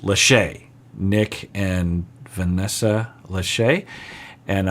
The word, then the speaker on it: Lachey: some of you were telling me that it's pronounced Lachey Nick and Vanessa Lachey and I was calling them the latchkeys laughs because I don't know who these people